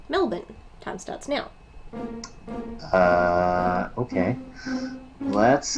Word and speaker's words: Melbourne: I'm going to say Melbourne. I will overlook your American pronunciation of the word. It is not Melbourne. The answer is Adelaide. Adelaide. Adelaide, Adelaide. Say it with me, gentlemen. Melbourne.